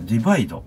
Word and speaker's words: ディバイド: 商品名ディバイドと読むんですね、これね。